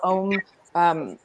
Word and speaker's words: Ogham: But there are some really cool kits of the Ogham. Some people call it Om.